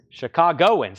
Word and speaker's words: Chicagoans: I feel like I'm putting an extra vowel. Chicagoans. There you go. I knew I was putting an extra vowel in there.